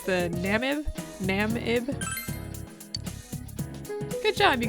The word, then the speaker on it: Namib: sure i don't i don't know how to pronounce that anyway it's the namib nam ib good job you got it right